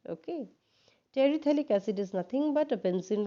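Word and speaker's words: terephthalic acid: and we take a terethalic acid when you pronounce this name the p is silent okay terethylic acid is nothing but a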